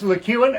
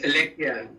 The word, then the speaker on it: LeCuan: Francis LeCuan, I think, is that the right pronunciation of your name, Francis? So is Lekian. As is Lekian. Okay, I stand corrected.